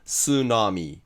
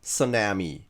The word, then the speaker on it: tsunami: 例えばこれは日本語から A 単語になった単語ですけど、英語の発音はスナミー、またはスナミーみたいに音は S なんですよ。